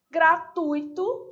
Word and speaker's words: gratuito: é para o ciclo a sílaba tônica tui gratuito se você por acaso falar gratuito corre o risco de errar também né letras e